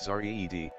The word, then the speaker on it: Zard: Celestial Reflection, the latest record from Zard, pronounced Zared, award-winning composer and Earth Haze pioneer, is now available in stores nationwide.